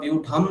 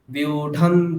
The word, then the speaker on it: व्यूढं: তাহলে কি বলবো, বিউঢান, বিউঢাং বলবো না, বা বিউঢাম বলবো না, মকার বা অনুস্বার বলবো না, আমরা স্পষ্টভাবে দন্ত্য নয় হলন্ত বলবো।